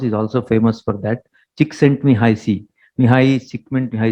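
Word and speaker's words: Csikszentmihalyi: pioneers actually his name is very difficult to pronounce he's also famous for that chick sent me high c mihai sigmund high c is his name he's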